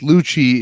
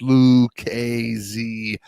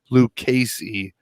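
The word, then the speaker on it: Lucchese: boot company uh lucasy it is not pronounced luci it is pronounced lu kay zee or at the very least luke casey hashtag octothorpe wait wait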